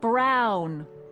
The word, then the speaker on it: Brown: bill to a T that's Emmett Brown rhymes with clown which I'm beginning to